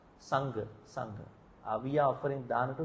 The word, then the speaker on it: Sangha: Sangha and Sangha. Sangha means bond. Sangha means community. You have to pronounce properly. It has to be Sangha.